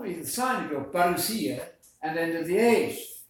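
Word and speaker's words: παρουσία: That Greek word coming, we do this for our Greek friends out there who know that that's pronounced parousia in Greek.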